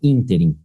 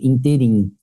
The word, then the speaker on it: ínterim: Essa só tem essa pronúncia também. Ínterim. Não existe interim.